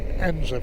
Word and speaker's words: Edensor: route ends are spent spelled Eden saw that's pronounced Enzo for someone no reason so there's the turning